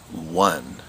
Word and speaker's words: one: And that's kind of a tricky sight word because it doesn't follow a lot of the rules that we've learned about sounding out words.